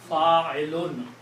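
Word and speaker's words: فاعلٌ: And on the third one, we put two dhammas or two pitch. So the sound will be Fa'ilun.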